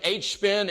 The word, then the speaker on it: HSpin: the uh engine behind hspin and i and i am saying that right it is just pronounced h-spin is that correct absolutely